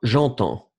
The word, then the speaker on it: entends: DS, mais on ne prononce pas. J'entends.